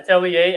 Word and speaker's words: Atelier: Um and then they previewed this one which had Atlier at I don't know how to say it's a French word. Yeah. Atelier.